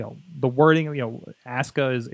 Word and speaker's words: Asuka: You know, Asuka is the way that they pronounce it over there, despite the spelling.